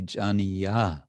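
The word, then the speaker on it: jāniya: And this jāni has this apostrophe, which means that it's filling in for the final syllable ya So it would be jāni-ya, which is the gerund form, as I understand.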